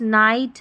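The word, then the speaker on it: night: देखिए लाइट, नाइट, हाई, यहाँ पर GH का उच्चारण नहीं हो रहा है, GH साइलेंट है।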